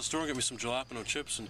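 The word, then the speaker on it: jalapeño: Ricky, the J's silent. You're saying it wrong. The J's like an H, Ricky. Jalapeno, not jalapeno.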